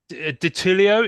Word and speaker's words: Ditullio: And special guest this week, Matt Ditullio. Is that how you pronounce it?